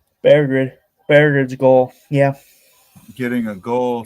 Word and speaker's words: Berggren: Berggren. It's pronounced Berggren.